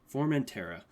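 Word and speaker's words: Formentera: formant tara okay yeah i always like can't pronounce that but it's formantera um really good album has it all comes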